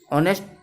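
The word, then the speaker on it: honest: ऑनेस्ट, इसको हम ऑनेस्ट बोलते हैं, इसलिए यहाँ प्रोनाउंसिएशन वोवेल की है, इसलिए यहाँ एन।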